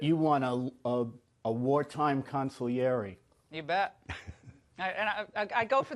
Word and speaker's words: consigliere: I love that you want a a wartime consul yerry you bet I go for the Italians okay